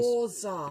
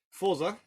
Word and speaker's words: Forza: Pronounce Yeah, it correctly. there's no T in it. It's Americans. Forza. Yeah. Take note, Microsoft. Forza.